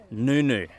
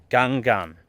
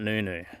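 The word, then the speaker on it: Ngungun: how you hike down so this mountain is pronounced Noo-noo Mount noooo and it's an Aboriginal name however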